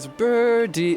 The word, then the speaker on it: birdie: You don't say birdie when you're speaking quickly. In American English, at least in my accent, it's replaced by an alvolar tap.